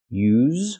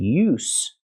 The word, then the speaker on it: use: s you so again use with a vibration is the verb and use with no vibration is the noun so we see pronunciation